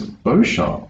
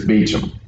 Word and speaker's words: Beauchamp: i pronounced the street i said it's beauchamp and she goes it's not beau shop around here it's beechem okay she sent me